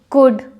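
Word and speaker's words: could: यहाँ पर डी से पहले अगर आपका एल आया है, वुड, कुड, शुड, तब आपका एल प्रोनाउंस नहीं होता है।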